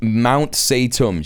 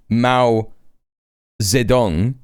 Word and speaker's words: Mao Zedong: But she did actually say Mount Zedong. She tried to say Mao Zedong or Zedong, right? And she said Mount Zedong.